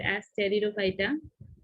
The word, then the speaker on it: Pteridophyta: So P is silent here. You have to read this word as Pteridophyta.